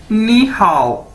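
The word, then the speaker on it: 你好: ये देखें, इसकी मैंने प्रोनाउंसिएशन भी लिखी है, नी हाउ, यानी इसको कैसे बोलना है।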